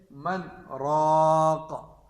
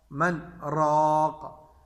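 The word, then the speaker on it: مَنْ رَاقٍ: یہاں پہ ہے من راق، من راق۔ اب اس کی ہم ہجے کریں گے، میم نون زبر من، را الف زبر را، من را، من را، قاف دو زر قن، من راق، وقفا من راق۔ اچھا،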